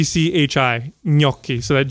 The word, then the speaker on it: gnocchi: time so I remember me okey okey so it's spelled G n o c CH i na ki so that G n makes a coochie it's